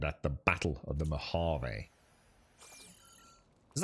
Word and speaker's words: Mojave: the campaign and at the battle of the mojave is how you pronounce that are you ready to see him